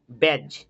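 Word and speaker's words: badge: যেমন দেখো এখানে আছে ব্যাজ, বিএডিজি, এখানে ডি কিন্তু সাইলেন্ট।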